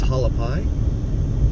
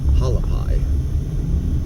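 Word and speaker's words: Hualapai: infants and kindergarten it says there this is halapi h u a l a p i p a i halapi I've heard everyone else pronounce it halapi so that's what I call it definitely looks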